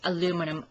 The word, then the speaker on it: aluminum: It is actually properly pronounced aluminum.